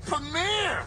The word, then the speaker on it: Premier: going to give this sample to guess hey premiere did i say it right yes all right premiere that's right i said you know let me